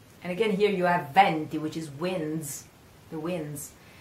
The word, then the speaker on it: venti: Lots of people say, pronounce this word venti, vento, venti. The problem is that venti is also a number, is the number 20. So it should be pronounced properly. Venti, I venti are the winds.